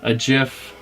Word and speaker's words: GIF: And I sent him a GIF of Chewbacca.